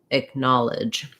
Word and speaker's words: acknowledge: ends of words so thinking about edge lidge acknowledge again noticing that these two are short have the reduced vowels and then my stress is here on the na or gnaw syllable depending on which vowel you use there so thank you for